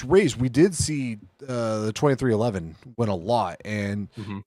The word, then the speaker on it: 23XI: If you look at it, it's pronounced 2311, and they have always kind of been, I don't know, kind of a midfield or so team.